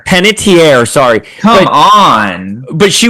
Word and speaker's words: Panettiere: I can never pronounce her last name. Panettiere, sorry.